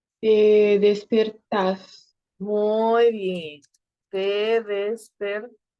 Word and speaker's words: despertás: Te despertás. Recuerden en esos verbos del vos que al final, pa, lleva la pronunciación más fuerte.